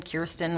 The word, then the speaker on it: Kirsten: I'm like, I'll answer to Kristen, Kirsten, Kirsten, which is how you say my name, but I don't blame people.